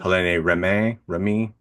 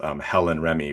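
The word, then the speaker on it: Hélène Rémy: Helene Remy. If I'm reading it in the as an American, her name is Helen Remy, but that's certainly not how it's said in French.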